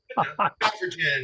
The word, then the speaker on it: Stoffregen: We have, and I'm going to mess up his name, Stoffregen. Close. Stoffregen. It's soft G.